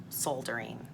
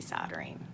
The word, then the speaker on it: soldering: I've been soldering, you guys, or as some people say, soldering. I say soldering.